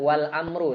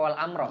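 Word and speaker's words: والأمرُ: Kemudian wal amru. Sekarang kita wal amru ee sebentar ini bacanya wal amru apa wal amro di situ. Wal amru ya.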